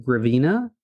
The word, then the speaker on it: Gravina: sure can yeah yeah hopefully I'll pronounce it right gravina correct that's correct originally from upstate New